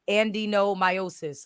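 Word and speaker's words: adenomyosis: that no it's literally it's literally like Ando i I typed it in because I never said it right it's literally and Andino meiosis like a d e n o m y o yeah like it's not endometriosis but no no to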